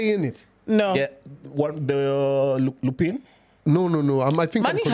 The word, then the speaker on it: Lupin: It's pronounced Lupin. Lupin. My bad. But it's a French word, so in English you can say it whichever way.